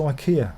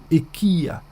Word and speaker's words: IKEA: and they go to ikea sorry ikea i must say it properly ikea to get some stalls